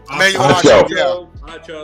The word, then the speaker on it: Acho: Sports moron number one of the week, Emmanuel, how do you say his last name? Acho? Acco? Acho.